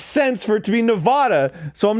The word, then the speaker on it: Nevada: How to pronounce Sierra Nevada?